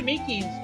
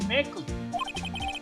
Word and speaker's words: Meekins: Actually, Officer Meekins at the detention center told us. That poor little doggy. Poor guy, I keep getting his name wrong and call him Meckle.